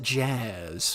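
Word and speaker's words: Jas: It's J-A-S, but I pronounce it jazz because jazz is cool.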